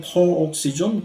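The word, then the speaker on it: peroxisome: 똥을 남이 치워주는 경우로 이 페록시즘이라고 영어로 제대로 된 발음이고 한국말은 퍼옥시즘 그냥로 주로 많이 발음을 합니다.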